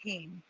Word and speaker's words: Kuhn: Brian, Kuhn is pronounced Keen. What is it? Kuehn is pronounced Keen. Everybody messes Keen.